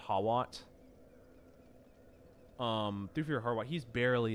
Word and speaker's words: Hawat: hawat harwat however you I think it's pronounced harwat but it's spelled hawat um through harwat he's